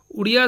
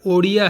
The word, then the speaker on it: ओडिया: ओडिशा की भाषा और जाति दोनों ही अर्थों में उड़िया शब्द का प्रयोग होता है, किंतु वास्तव में इसका सही उच्चारण ओडिया है।